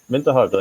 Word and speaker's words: Winterhalter: Rafael, you can Rafael Winterhalter. Is that the right pronunciation? It's German. It's really good. It's German, yeah. So I'm German, but I live in Norway. So Winterhalter? Winterhalter, yeah.